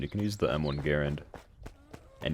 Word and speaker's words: Garand: the M1 Garand and yes it is Garand not Grand or whatever other pronun pronunciation of that name you could possibly find it's definitely guaren like it's literally been fact proven to be Garen cuz it was named after the guy and the guy's name was he pronounced it Garen so he was actually